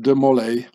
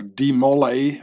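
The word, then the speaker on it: de Molay: last Grand Master uh Jacques de mole uh or demolay As Americans say it mole which is a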